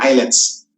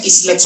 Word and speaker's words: islets: eyelets of ler hands pronounce in the word eyelets Okay so hindi siya islets of ler hands ha eyelets of ler hands okay